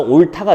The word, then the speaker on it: 옳다: 축약이 일어나서 옳다가 되죠. 이 고전시가가 어려운 이유는 소리 나는 대로 씁니다. 옛날에는 소리 나는 대로 써요. 지금은 원형을 밝혀 쓰는데 옛날에는 소리대로 써서 옳다 이렇게 나온 거예요. 우리는 옳다라고 읽어주면 됩니다.